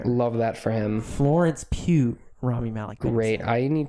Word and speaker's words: Pugh: joined the cast lawrence pugh raymie malik and benny day florence pew romney malik and benny saftey join the captain is how that's pronounced how is that any